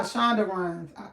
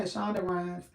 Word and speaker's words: Shonda Rhimes: love to find okay okay ryan's okay i shonda runs shonda runs i'm i say shonda rhimes i'm saying it right and look it's coming